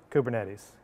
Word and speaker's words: Kubernetes: just gonna have to go with the english pronunciation which is kubernetes right uh or k8 right uh because there's